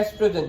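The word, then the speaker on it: oestrogen: ये hormone release करता है एस्ट्रोजन, जिसमें ओ साइलेंट होता है।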